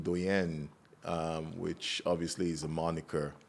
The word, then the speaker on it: Doyenne: But it's pronounced like Doyenne.